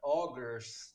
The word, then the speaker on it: Augurs: you say that yeah it was supposed to be augers and I thought it